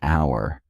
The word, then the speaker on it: hour: air, an honor, an hour. In these cases, the H is silent.